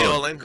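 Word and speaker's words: Köln: K-O-L-N, Yeah. Yeah, but it's spelled Koln.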